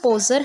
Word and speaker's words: Podger: Our first section is Uncle Poser hangs a picture. We will say poser. D is silent here.